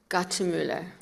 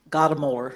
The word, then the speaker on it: Gottemoeller: welcoming the honorable rose gatimuller thank you ma'am that was such a kind introduction i uh i have to say that i always pronounce my name with a plain old american pronunciation gotta mower so it's fine but